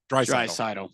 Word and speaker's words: Draisaitl: Draisaitl.